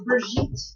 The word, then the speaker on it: Brigitte: It's not Bridget. It's Brigitte.